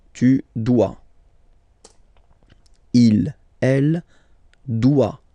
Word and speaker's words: doit: Il, elle doit. Final T not pronounced.